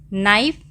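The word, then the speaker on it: knife: है, ये क्या है, नाइफ। इसमें के क्या है, साइलेंट है, के की आवाज़ नहीं आ रही, हम इसको नाइफ पढ़ते हैं।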